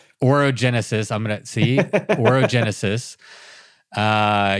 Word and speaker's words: Orogenesis: Um you're out on organis. Did I say it right? Oroenesis. Oroenesis.